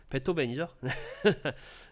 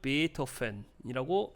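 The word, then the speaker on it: Beethoven: 네, 베토벤이죠. 네, 독일식으로 읽으면 베토펜이라고 읽으시면 돼요.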